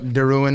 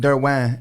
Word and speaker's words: Derouen: that I ended up Darin my last name because I was I just like I'm just going with it so I say Darin but derw is actually the uh French pronunciation there you go